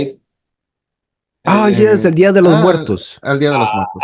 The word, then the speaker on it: Día de los Muertos: Yes, El Día de los Muertos.